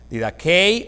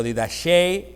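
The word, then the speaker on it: διδαχή: La palabra doctrina, como hemos estado mirando, es una palabra griega que se pronuncia didakei o didashei o didake, y esta palabra indica el conjunto de enseñanzas, el conjunto de normas o el conjunto de leyes.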